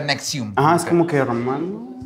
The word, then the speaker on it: NXIVM: Ajá, pero se pronuncia Nexium.